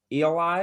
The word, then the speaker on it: Eli: really my middle name eli rhymes with free pie but we don't have